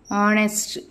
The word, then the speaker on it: honest: for an example if you say R and honest so only for these particular words I mean